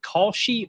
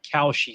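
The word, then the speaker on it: Kalshi: but uh how do you say is it Koshi or Koshi Sports? The new gambling service. K A L S H I. How would you I've heard Koshi?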